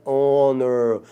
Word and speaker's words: honor: An hour, an honest man, an heir, an honor. Uma hora, um homem honesto, um herdeiro, uma honra. Então, H aí, nessas 4 palavrinhas, é mudo, é como se a palavra começasse na segunda letra aí, pessoal.